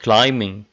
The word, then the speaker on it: climbing: scheme sing-a-ling windsurfing rock climbing climbing it's climbing not climbing ok so the bass sound is silent so to sum it